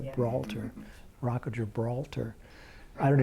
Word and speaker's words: Gibraltar: Did I pronounce that right? Yeah. Gibraltar.